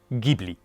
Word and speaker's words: Ghibli: On prononce donc en accord avec la prononciation en arabe libien Gibli.